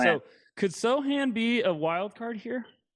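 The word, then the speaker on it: Sochan: Sohan. There it is. Okay, I had it right. Sohan. So could Sohan be a wild card here?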